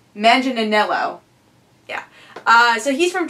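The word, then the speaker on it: Manganiello: to go with Joe magelo I don't think I pronounced the last last name right manginello yeah uh so he's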